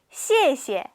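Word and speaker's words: 谢谢: 첫 번째 단어 같이 먼저 함께 읽어 볼게요 시에시에 시에시에 잘 따라 읽고 계시죠 한 번만 다시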